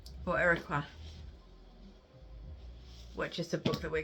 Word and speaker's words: Uiyqara: We're currently up to chapter 6, so I thought I would come in again and try and pronounce it correctly. Areiqua.